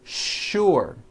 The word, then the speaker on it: sure: words in English that are written with the letter S but are pronounced with the SH sound words like sugar and sure and to make things